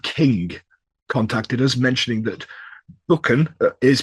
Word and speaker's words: Buchan: Yes, because we had one of our lovely patrons, uh, Jacob King contacted us mentioning that buckan is pronounced buckan, the first syllable is like book.